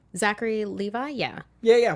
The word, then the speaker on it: Levi: with um was it levy was it was exactly like Zachary Levi yeah yeah yeah when I say I said the name wrong levy like like the song we drove down to the levee he's a New Orleans